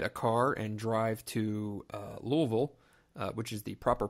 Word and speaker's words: Louisville: to go get a car and drive to Louisville which is the proper pronunciation and so I will have a good